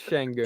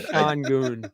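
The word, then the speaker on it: Şengün: It's not Sean Goon.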